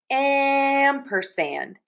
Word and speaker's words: ampersand: So we have ampersand. amperand. Amperand amperand open a and am. Open in a wide circle. And we have that sound again in sand.